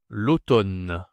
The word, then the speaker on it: l'automne: C'est l'automne. L'automne. OK. Masculin. Alors, l'automne, attention, la prononciation ici, c'est O. A u en français, c'est O.